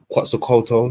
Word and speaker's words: Quetzalcoatl: Is it Quetzalcoatl? I can't even pronounce it. Quetzalcoatl? Quetzalcoatl.